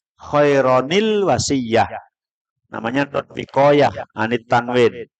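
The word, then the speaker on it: خَيْرًا الْوَصِيَّةُ: Itu ditulisannya nggak ada nun kecil, tapi cara bacanya pagi sudah belajar Al-Quran ya. Khairon al-wasiyah itu bacanya khaironil wasiyah.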